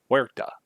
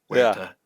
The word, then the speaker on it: Huerta: The way to remember it is that if you made the H silent. Huerta.